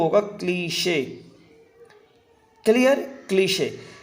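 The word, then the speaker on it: cliché: ठीक है, ये क्लीशे है, इसका जो प्रोनाउंसिएशन होगा दोस्तों वो होगा क्लीशे। क्लियर? क्लीशे। ये क्लाइज या क्लाइश नहीं होगा, ये होगा क्लीशे।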